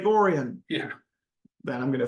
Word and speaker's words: Orion: feel like there's probably some like weird Michigan pronunciation it's like no it's Lake orian yeah that I'm going